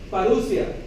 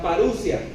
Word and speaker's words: parousia: A la segunda venida de Jesús, en griego, se le llama parousia. La O con la U juntos en griego se pronuncia como U. La parousia.